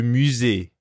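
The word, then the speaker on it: musée: do we say museum in french it's le musee right musee and what will we need to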